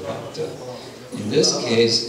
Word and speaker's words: bhakta: And usually, this is substituting, this is kind of the opposite of what I mentioned before, where there's an adding of a syllable, bhakata, bhakata, instead of bhakta.